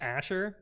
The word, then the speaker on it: Azure: I'm gonna like that one so much it's pronounced Asher yeah Json was a string do they use